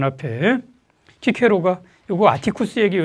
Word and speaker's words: 키케로: 자, 서양에서는 그 영어권에서는 시세로라고 그러기도 하고요. 키 발음 잘 안 써가지고 그래요. 자, 그런 사람이 쓴 책입니다. 거기 1장의 맨 앞에 키케로가 요거 아티쿠스에게 이 책을 바쳐요.